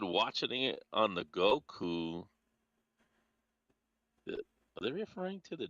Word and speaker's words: Goku: He says cuz Goku rhymes with Roku.